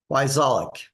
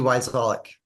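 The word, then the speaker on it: Wyczalek: Every other letter is silent. So it's W-Y, C as in cat, Z as in zebra, A-L-E-K, Wyzolek. Sounds just like it's spelled.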